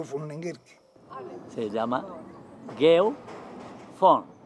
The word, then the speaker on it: von: Se llama Geo von. La V que llaman ahora es que V, o sea la B, la bidental, se pronuncia en alemán von, F, von, por eso se dice Geo von Lenguerque.